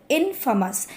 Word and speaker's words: infamous: Next is इनफेमस, pronunciation देख लीजिए, इनफेमस।